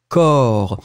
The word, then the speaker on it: corps: a noun, and it's corps. Remember, the way to write corps, it's C-O-R-P-S. We don't pronounce P, and we don't pronounce S. C-O-R-P-S, le corps.